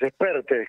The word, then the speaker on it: Espert: Expertes, como si fuera acento en la segunda, Bien, es perfecto, catalán.